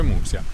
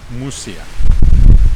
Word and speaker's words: Muxía: Non si dice Muxia, si dice Mussia.